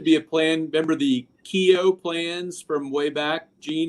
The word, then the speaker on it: Keogh: Remember the Keogh plans from way back, Gene? And people say, I want one of those keyhole plans. They mispronounced the name and think it actually said something else.